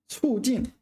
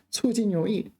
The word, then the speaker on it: 促进: It's a very common word and a word I've been pronouncing wrong for a long time. 促进. And just to emphasize that, I'm going to add the pinyin here. 促. Fourth tone. 促进.